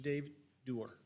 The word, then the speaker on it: Dave Doer: Dave Doer. Did I pronounce that right, Frank? Yeah, Mr. Dave Doer.